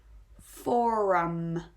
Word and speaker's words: forum: So here we have kind of the soft R at the end, the for, and then we really go strong with that rounded rhotic R before we finish off the word.